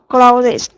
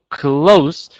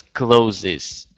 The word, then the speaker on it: clothes: Now, for plural form for clothes, we have clothes. Clothes. So you don't pronounce this as closes.